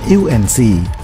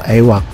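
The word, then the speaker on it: AEW&C: Kadang diucapkan EUNC atau AWAC.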